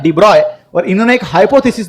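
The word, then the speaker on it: de Broglie: देवराई ने इसका स्पेलिंग जिनका स्पेलिंग दी ब्रोग्ली रखा जाता है लेकिन प्रोनाउंस कैसे करना है डिब्रॉय और इन्होंने एक हाइपोथेसिस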